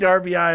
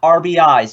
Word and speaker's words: RBI: But he's got 18 RBI already, which is absolute fucking insanity. And by the way, that is how you say it. It is RBI, not RBIs. You don't say runs batted ins.